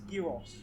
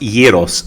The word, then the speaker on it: gyros: I was going to say, nice gyros. Gyros? It's pronounced gyros, so G in Greek is a Y, sorry.